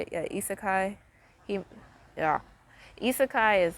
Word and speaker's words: isekai: Yeah, isekai.